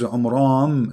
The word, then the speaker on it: Imran: of mooses an errand because his name is Imran so the last letter is M not in so the foolish Mohammed he thought that Mary she is the daughter of imran and imran is the